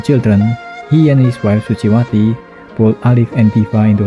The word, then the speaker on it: Suciwati: The letter C is pronounced ch, and most words emphasize the second to last syllable. For example, Suciwati is pronounced Suciwati, though French call her Suci.